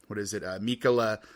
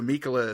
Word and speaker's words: Michele: But then whenever the director of this, Michele Soavi, I had to look up how to pronounce his first name. So Michele Soavi, he wanted to make a little more